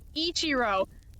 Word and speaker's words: Ichiro: Like that's not an L, it's an I. It's I-C-H-I. Right? I gotta make sure because it looks like an L right now to me. Okay, Jun Ichiro.